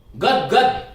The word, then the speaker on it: गदगद: गदगद पहले में तो उच्चारण ऐसे ही, गदगद इसको बोल ले, क्योंकि देवनागरी लिपि में जैसा लिखा जाता है वैसा ही बोला जाता है।